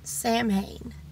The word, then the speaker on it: Samhain: Honestly, that's what Samhain and some people pronounce it as Samhain.